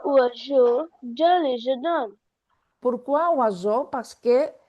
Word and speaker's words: oiseau: J'ai vu un oiseau dans le jardin. Je vous un oiseau dans les jardins. Pourquoi oiseau? Parce que when we have S between two vowels, it's pronounced Z.